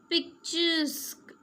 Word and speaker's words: picturesque: Machine, machine, QUE sounds like K, okay. So how will we pronounce this? Antique, say with me, antique. Unique, unique. Mosque, mosque. Picturesque, pictures.